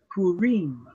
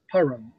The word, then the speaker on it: Purim: You can pronounce this name many ways. In Eastern tradition, it is called Purim. Among Westerners, like us, it is often called Purim. That's what I choose to use, the Purim's pronunciation. Some Central European communities even called it Purim.